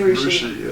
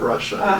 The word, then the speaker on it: Russia: think we're communist so we say Russia instead of Russia even though that it's spelled with an A but Spelman Wow and